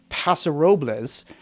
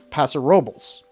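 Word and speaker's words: Paso Robles: It's not Pasarobles, it's Pasarobles.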